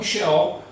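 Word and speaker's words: Sheol: chaves aqui que é cheol e radias ou Ades aqui que nós pronunciamos em português então xol dentro do conceito hebraico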